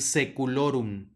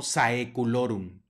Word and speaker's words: saeculorum: es el mismo caso vamos a decir seculurum no saeculorum sino sé culorum y el amen ahora